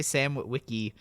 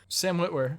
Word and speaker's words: Sam Witwer: And another great example to pull it back to Star Wars is, I always say his name wrong, Sam, I always want to say Sam Witwicky, Sam Witwer.